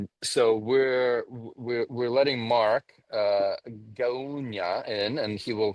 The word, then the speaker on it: Gaunya: My name's pronounced Gaunya, so it's Mark Gaunya. Ganya.